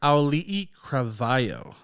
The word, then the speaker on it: Auli'i Cravalho: Auli'i Cravalho.